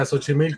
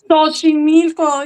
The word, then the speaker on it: Xochimilco: Yeah, Xochimilco. How you say it again? Xochimilco. Xochimilco.